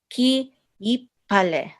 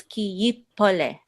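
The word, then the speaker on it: כי יפלא: So, ki yipale. Is that mm-hmm. good? Actually, it's ki yipole.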